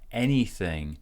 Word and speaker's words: anything: Anything. So anything has two stresses. Primary stress goes on the first syllable, as in head.